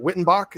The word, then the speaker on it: Wyttenbach: the correct pronunciation of your name is it wittenbach is that the correct protective pronunciation yeah you got it man lucky beginner's